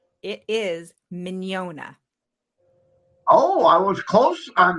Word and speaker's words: Mignogna: I say if they're familiar with filet mignon, but I've been noticing that people don't always pronounce filet mignon the way I pronounce filet mignon. yeah. Did you say? Did you say "ya" at the end, like an IA or a YA? Like an not really a Y, just Okay, mañana. Mignogna.